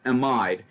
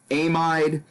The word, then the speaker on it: amide: is now called an amide and a Mike can be pronounced amide imide amid there are many pronunciations for this word any of them are acceptable amine is typically the